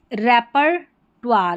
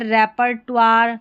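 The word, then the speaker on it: repertoire: ओ आई का उच्चारण निम्नानुसार कुछ शब्दों में वा भी होता है, जैसे मेमवार्स, रेपर्टवार, यह है रेपर्टवार।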